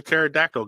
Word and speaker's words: pterodactyl: can't you hear the pterodactyl going to the bathroom because the p is silent that's a good one